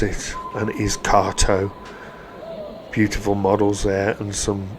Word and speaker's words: Kato: Whilst I was on the stand of what we all thought was Kato, I asked them how you pronounce it and it is KTO.